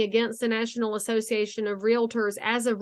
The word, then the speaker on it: realtor: competition dot realtor and you notice I don't say realtor because realtor has two syllables Realtors say it right competition and that's where